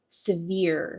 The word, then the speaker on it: severe: Severe stress on the second syllable here.